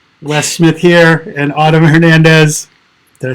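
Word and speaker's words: Hernández: Wes Smith here and Autumn Hernandez. Did I say it right? Yeah, you could have rolled the R. Which R? Hernandez. Hernandez. Not even, you can't even say the H either. Hernandez. Like churro.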